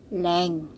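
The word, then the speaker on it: 零: Okay, so yung sa zero nila is leng. Zero is leng.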